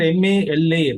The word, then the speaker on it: Mala: In this case, they mentioned MALA, right? MALA, Mala. MALA is that A is sometimes added, whereas while pronouncing in that language, they say Mal.